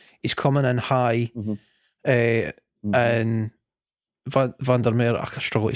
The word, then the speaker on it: Van der Merwe: coming in high, and Van der Meer, I struggle to say his name, man. Van der Meer, do you pronounce the W? Van der Merwe. Does he pronounce it like a V?